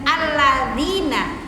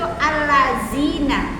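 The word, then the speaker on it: الَّذِينَ: Karena ada yang baca Al-Quran saat ketemu alladzina, itu allazina dibacanya. Bukan allazina, tapi alladzina. Nah ini madhi.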